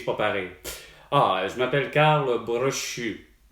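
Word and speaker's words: Karl: comment aller plus pour pareil ah je m'appelle Carle Bru K a r L B comme bébé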